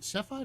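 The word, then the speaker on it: Cepheid: It's Is it Sephiide or Sephiid? Sephiid. Sephiid. Yeah. Sephiid. Yeah. I know. So hard to pronounce.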